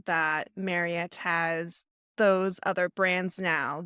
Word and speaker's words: Marriott: It is Marriott.